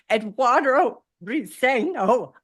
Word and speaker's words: Eduardo Briceño: I am so excited to have Eduardo Briceño on my podcast today.